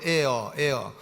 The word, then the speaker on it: heir: 그러니까 후사라는 말은 영어로 heir, HEAR인데 공기, AIR 하고 발음이 똑같다고 해가지고 발음은 똑같은데 스펠링이 다른 단어, 이게 이제 air 아닙니까?